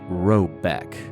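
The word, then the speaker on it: Råbäck: The manor house, or herrgård, in question is to be called Robok, pronounced something like Robeck, though that is not its name.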